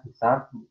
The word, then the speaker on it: C#: Bacanya C#. Jarang saya lihat di forum-forum itu C Crash. Ya. Kalau kita kan manggilnya kadang C Crash, tapi officialnya manggil C#.